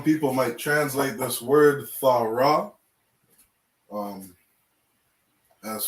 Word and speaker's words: Torah: The proper way to say this word is THAWRAH.